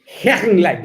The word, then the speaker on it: Hechenleitner: nada más y nada menos que a Moira Hergenlein. No, espero que haya pronunciado bien ese apellido.